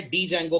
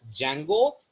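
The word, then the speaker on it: Django: ठीक है, इसमें डी साइलेंट रहता है, मैंने बहुत से लोगों को देखा है डी जैंगो पढ़ते हैं इसको। इट्स not pronounced as डी जैंगो, it's pronounced as जैंगो, जिसमें डी अल्फाबेट साइलेंट है, और इसी के अंदर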